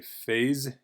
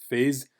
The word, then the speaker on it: phase: So in English we say phase, phase. Also, that S at the end is pronounced like a Z, which I like to